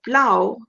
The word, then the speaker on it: plough: sounds like ow so the word plough rhymes with how now that we know